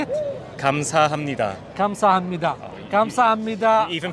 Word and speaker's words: 감사합니다: how do you pronounce it? 감사합니다. 감사합니다.